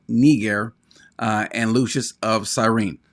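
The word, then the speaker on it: Niger: Simeon who was called nigar uh and Lucius of sirene now so he's saying this is this this neger that's how it's pronounced in the Greek this is the same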